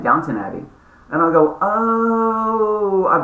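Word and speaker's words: Downton Abbey: n t o n downt Abby and I go oh I've been saying it wrong for years my friend so you just said it so FYI everybody that's watching this it's not Downtown Abby maybe you guys knew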